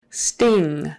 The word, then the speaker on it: sting: he in stable condition sting sting ing is pronounced with uh kind of a nasal sound in the back of the throat that g is not normally pronounced in some regions of